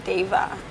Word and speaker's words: Deva: So the D is silent in Deva.